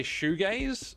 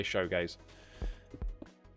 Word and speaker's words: shoegaze: So I can say shoegaze, and that's how it's supposed to be said. But I always, for some reason, just say showgaze.